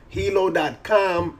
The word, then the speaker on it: Heello: Facebook killer but yeah it's called Hilo hilo.hi it pronounced Hilo and yeah this is